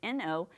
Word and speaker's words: know: That's very different than our warm-up word that we had, our high-frequency word of just N-O.